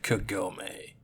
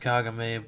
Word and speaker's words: Kagome: It's about a girl named Kagome. Yeah, I know it's pronounced Kagame, but I'm watching it in English, so sue me.